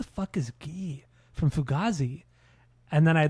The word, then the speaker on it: Guy: But his first name is actually pronounced Gee. It's not Guy.